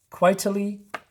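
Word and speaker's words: Quitely: another artist I believe this is when Frank quietly that's how you say it all right I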